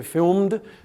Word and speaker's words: filmed: So filmed, the ed is pronounced d because the m is voiced.